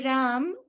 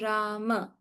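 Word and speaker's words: राम: If we want you to say Ram, we will put a halant in Sanskrit. If there's no halant, it is Rama.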